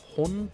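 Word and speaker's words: 本: And then there is the letter for the character for book, which is pronounced hon.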